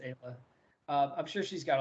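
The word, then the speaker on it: Aella: got some crazy Kayla it's Ayla yeah I think it's Ayla uh I'm sure she's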